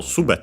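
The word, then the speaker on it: すべて: one more and so it's on the first syllable subet and yeah it's the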